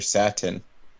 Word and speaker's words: Satan: favorite character you guys you guys are saying it wrong his name is Mr sattin Satan that's right clearly